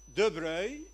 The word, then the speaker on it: de Broglie: éléments actuellement en 1923 de breuil ça s'écrit de broglie étend le concept du